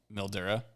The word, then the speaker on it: Mildura: Ollie is wondering how growing up riding the Murray in Mildura, is that how you say it, Mildura? Yep, Mildura.